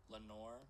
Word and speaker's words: Lenore: Actually, I should have known it was Lenore because in the poem it keeps rhyming with like more.